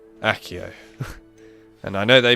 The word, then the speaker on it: accio: need to learn these we really need to learn accio not axio accio and I know they